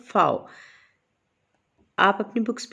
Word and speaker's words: Pfau: इसमें P silent है इसलिए हम इसे पढ़ेंगे रुत फाओ।